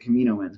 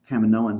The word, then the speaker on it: Kaminoan: the Kamino mints yes I'm going to continue to pronounce it Kamino ends because I think Kaminoan sounds stupid also those little aliens